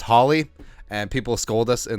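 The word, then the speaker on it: Hawley: pride of Howley Minnesota I know it's pronounced Holly and people scold Us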